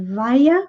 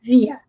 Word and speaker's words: via: E essa palavra que ele disse via, tem 2 pronúncias. Nós podemos dizer via ou via.